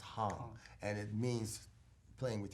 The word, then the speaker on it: Hang: spelled hang like but in Swiss German it's pronounced Hong and it means playing